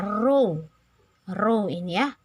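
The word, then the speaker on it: ρ: Jangan baca P, ini bacanya rho.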